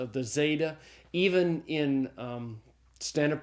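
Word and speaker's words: ζῆτα: The zeta is the Z sound as in the English word days. Now, there is some controversy about how to pronounce the zeta even in um standard pronunciation.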